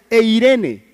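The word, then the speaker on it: εἰρήνη: está utilizando una palabra que se que se pronuncia eirene y el resultado o lo que quiere decir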